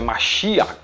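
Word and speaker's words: משיח: era um jidá daí a palavra messias lembrar que se pronuncia mashiah que vem da raiz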